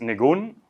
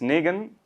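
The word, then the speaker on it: ניגון: Sí, la palabra hebrea es nigun, Sí. pronunciada en Ashkenazi es nigen, y ahí le metes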